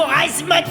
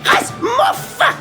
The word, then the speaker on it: Rasmoff: Comment osez-vous utiliser le mot Rasmoth devant moi? Mon nom se prononce Rasmoff!